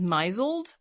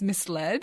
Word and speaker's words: misled: And so a word I read recently I read it as misled but it's misled and I was like oh that's a different misled is not a word.